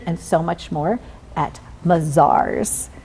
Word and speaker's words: Mazars: so much more at mizar's how they do pretty good right bazaars good job we were talking about the fact that different people pronounce it differently from around the world but it is mizar's okay so Tiffany tell